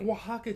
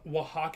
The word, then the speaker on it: Oaxaca: i'm not pronouncing that oh it's like oaxaca cheese that's a ch yeah that's the cheese that i was thinking of oh okay thank you red crab so it said wahawk in old fashion yes got